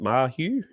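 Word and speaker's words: Marzhew: With Greg how do I pronounce it? Marju.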